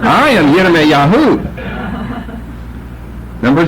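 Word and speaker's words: ירמיהו: grasp that if you called him Jeremiah, he'd just keep walking. Because that's not his name, and he wouldn't know anybody named Jeremiah. But if you said Yirmiyahu, then he'd know who you're talking about.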